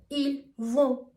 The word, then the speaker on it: vont: For example, we would say ils sont, ils vont, elles ont. The spelling is O-N-T, S-O-N-T, or V-O-N-T. But the T is always silent, and also the sound is kind of nasal.